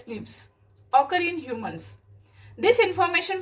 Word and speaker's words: SNPs: snps single nucleotide polymorphism pronounced as snips occur in humans.